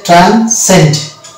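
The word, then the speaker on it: transcend: পরবর্তী ওয়ার্ড হচ্ছে ট্রান্সেন্ড। ট্রান্সেন্ড এখানে হচ্ছে, এখানেও দেখতে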